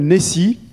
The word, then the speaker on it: N2S3: Le premier, historiquement, s'appelle Nessie. Ça s'écrit N2S3, mais c'est Nessie que ça se dit, Neural Network Scalable Spiking Simulator.